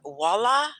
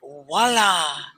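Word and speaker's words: voilà: Have you heard that word voila? It sounds like W, right? Voila. Voila. Voila. But It's like a French word, right? it's French.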